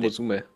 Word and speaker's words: Nekomusume: Das zweite U wird nur halb ausgesprochen von Musume. Das heißt, so glaub mir. Okay. Zweimal Jack Frost. Das wird nicht komplett nicht ausgesprochen, aber es wird so halb ausgesprochen. Manche sagen auch einfach nur Musume. Egal.